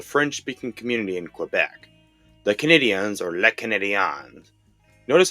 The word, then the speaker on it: Canadiens: The name was chosen to pay tribute to the French-speaking community in Quebec, the Canadiens or Les Canadiens. Notice how it is spelled with an E at the end instead of an A.